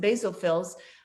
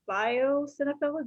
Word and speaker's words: basophil: But those eosinophils and basophils can be an indication of an imbalanced microbiome and some inflammation in the gastrointestinal tract. So what does eosinophil and biosinophil, did I say it right? Basophils. Basophil.